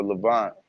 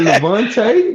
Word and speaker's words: Levant: The Levant. No, it's called the Levant. It's not said.